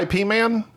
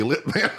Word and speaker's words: Ip Man: I IP yeahp man it's ipman you pronounce it they took off the L it's not used to be Lipman all right you can't